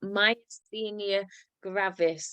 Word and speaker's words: myasthenia gravis: Now, Tamara was diagnosed with, and I can never say this, but myasthenia gravis. I think I pronounced that right, Yes.